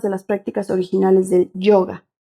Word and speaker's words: yoga: las prácticas Originales del yoga pronunciado como una o larga que proviene del Antiguo